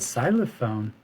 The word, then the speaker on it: xylophone: this it's a xylophone but xylophone doesn't make the s sound at the beginning it sounds like z like the letter z but it's spelled with an x what is this it's